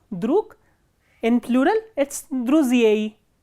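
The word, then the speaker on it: друзей: In plural, it is druziei, druziei.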